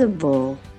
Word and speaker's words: feasible: chữ perez độc là bồ ha It is feasible thì bây giờ trên nguyên tắc là các